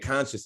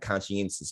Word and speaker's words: conscious: media platforms and that conscious is spelled c-o-n-s-c-i-o-u-s i know some people want to say like conscience but it's like no conscious like that part right there but if that's hard